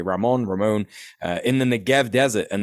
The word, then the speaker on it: Ramon: But the missiles that actually got to Israel and blew up Ramon Airport, I think it's pronounced that way, Ramon, in the Negev Desert.